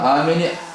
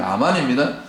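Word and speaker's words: אמן: 아멘 7장 6절에 보면이 우리는 아멘으로 얘기하는데 영어도 아멘인데 원래 히브리어 너는 아멘이 아만으로 온 거야 아마 모범 발음이 아만입니다 그래서 잠언 27장 6절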